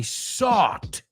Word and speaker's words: sought: Yesterday I sought answers. And lately I've sought. O sea, como bought, como compró, pero con ese.